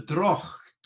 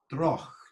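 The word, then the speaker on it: droghte: called a velar fricative, the ch sound towards the back of the mouth.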